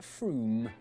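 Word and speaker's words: Frome: your train it should be blitheringly obvious it's pronounced Froome but if you did say Froome don't worry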